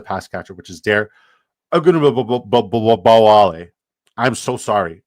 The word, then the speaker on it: Ogunbowale: and I'm going to do my hardest to pronounce it for you. Agudman, no, Agudman, no. Agudman, Dare, Agudman Bawali. Dare Ogunbowale.